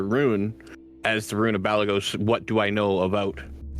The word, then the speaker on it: Balagos: as the rune for Balagos. Okay, cool. Ooh, I do. As do I. As do I. Anybody else speak Draconic? How do you spell that? B-A-L... B-A-L-A-G-O-S. Balagos. Okay, just as it sounds.